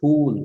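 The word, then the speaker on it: फूल: what flower flower so it is not fool it is P pool p p not F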